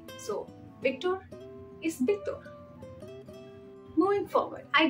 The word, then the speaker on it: Victor: the other one um V is B so if your name is Victor it's not pronounced Victor it's Victor like b-i-c-t-o-r-e when when we used